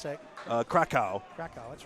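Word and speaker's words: Kraków: How do you pronounce that? Krakow.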